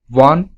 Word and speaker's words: one: use n before one if you notice the pronunciation of the word one you will see that the word one starts with the sound w not o and we know w is a consonant that's why we have